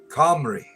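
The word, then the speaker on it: Cymru: The best way I could describe the way you pronounce would be Comrie.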